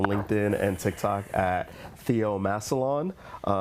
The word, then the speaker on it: Massillon: Massillon.